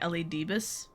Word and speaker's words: Elidibus: So I've been pronouncing it Elidibus or something like that.